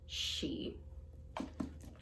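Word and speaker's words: sidhe: word s-i-d-h-e which means fairy and irish is pronounced she happy reading you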